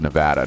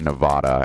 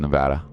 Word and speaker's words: Nevada: and by the way that's pronounced Nevada not Nevada anybody who ever if you ever hear somebody say I'm moving to Nevada it's totally bull crap that's not how it's pronounced by locals mm-hmm at all just so you know it's pronounced Nevada but uh yeah I'm